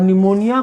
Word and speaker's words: pneumonia: कहते हैं है और निमोनिया को पीछे से लिखते हैं आज भी साइलेंट होता है तो निमोनिया पढ़ते इसको है और निमोनिया रोग में